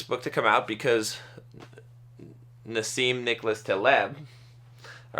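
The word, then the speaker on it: Nassim Nicholas Taleb: never to just guess at it so it's Nim Nicholas TB Nim ncas TB skin in the game is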